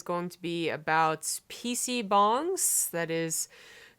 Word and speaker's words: bang: to be about PC bongs that is usually spelled ba ng but it's actually pronounced bong if you read in Hangul so yeah that's the